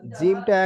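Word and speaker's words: ج: আচ্ছা এই জিমটা জিমটা একদম মোটা আওয়াজ বুঝতে পারছেন জিম জিম জিম বুঝতে পারলেন জ মোটা যেমন জীবের মাঝখান আর উপরের দুটো মাড়ির মাঝখান এই দুটো এক জায়গায় হয়ে জিম উচ্চারণ হবে জীবের মাঝখানটা উপরের মাড়ির দুটো দাঁতের মাঝখানে যে অংশটা ওই অংশ গিয়ে যুক্ত হবে দুটো মাঝখানে এক জায়গায় হবে জিম জি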